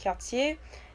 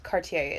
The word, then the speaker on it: Cartier: And I was like, no, actually, it's French, so it's pronounced Quartier, but Cartier is fine in English.